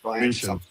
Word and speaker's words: München: How do you say it, Benji? You're probably better than me. It's München. Bayern München. There you go.